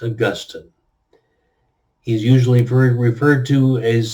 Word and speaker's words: Augustine: The saint, the early Christian thinker, bishop, and very influential person, his name is pronounced Augustine.